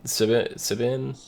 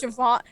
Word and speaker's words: Siobhan: Sibin? I don't fucking know. I don't know how to pronounce the name. It was Siobhan.